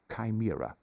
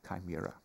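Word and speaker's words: chimera: pointless exercise and indeed a kimira I think you pronounce it chimira I do not share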